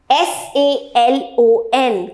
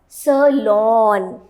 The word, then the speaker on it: salon: This SA is pronounced as salon. इसमें आपको अपना मुंह को पूरा खोलना है. It's lawn, salon. Can I go to a salon? Please drop me at the salon. It is not saloon.